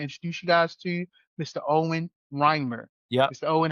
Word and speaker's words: Owen Reimer: Owen Reimer. Yeah. Mr. Owen, how did I do? You got it. Good? That's the right pronunciation.